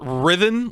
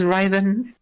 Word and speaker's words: rythin: in some stream is rhythm like like similar to rhythm the preferred pronunciation yes that is the pronunciation i had in mind i came up with this but everyone says ryden it's it's whatever i